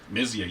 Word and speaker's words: Myzia: Myzia, you got it. See, I've been saying it wrong for so many damn years, but I'm glad to finally get to meet you, buddy.